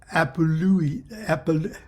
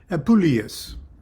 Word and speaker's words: Apuleius: The Golden Ass being the metamorphosis of Lucius Apului. How do I pronounce that, dear? Apuleius.